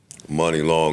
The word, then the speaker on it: Muni Long: over your name forever well then spell it right money long m u n i is not money M KN I hate